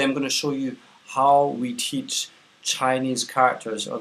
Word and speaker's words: 好: own is a character it has one syllable it's pronounced how it means good on its own so is you good but um anyway how um first we're going